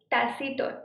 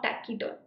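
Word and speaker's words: taciturn: टैसीटर्न, check the pronunciation. टैसीटर्न, नॉट टैकीटर्न.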